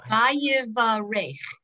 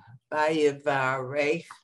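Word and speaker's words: ויברך: No, it's Vayivarech. You have to do the final chaf. Vayivarech.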